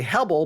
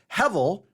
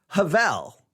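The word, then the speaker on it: הבל: So some people will say Hebel, but it's actually the B sound gets a V, so it's Hevel. And I think the correct way to actually say it is Havel.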